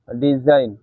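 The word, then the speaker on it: design: শব্দের শেষে আই জিএন থাকলে আইন উচ্চারিত হয়। এক্ষেত্রে জি অনুচ্চারিত থাকে। যেমন ফরেন, rain, রিজাইন, সাইন, ডিজাইন ইত্যাদি। এই ছিল আজকের পাঁচটি রুলস।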